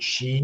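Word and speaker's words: qi: i think it's pronounced key yeah you know a blackjack guitar blackjack guitarist here nice i mean q i is actually how you pronounce the word chi like chi energy but they didn't pronounce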